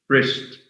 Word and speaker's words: wrist: This is why pronunciation matters, you know. Any other terms? Wrist.